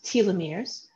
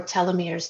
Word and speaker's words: telomeres: shoelaces we call those telomeres or telomeres depending on how you want to pronounce them and each time